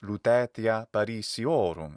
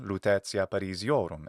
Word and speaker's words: Lutetia Parisiorum: In fact, the name of Paris in Latin is Lutetia Parisiorum, at least in the classical Latin pronunciation, Lutetia Parisiorum, in a more ecclesiastical pronunciation.